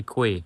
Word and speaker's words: quay: For some reason, this word is pronounced as key and not qu. But guess what? I going to say quay.